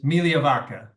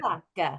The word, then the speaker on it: Migliavacca: And so it is Migliavacca. That's how you say it. Migliavacca.